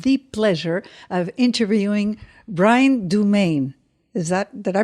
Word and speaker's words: Dumaine: Katrina Bruce, and today we have the pleasure of interviewing Brian Dumaine. Did I pronounce that correctly?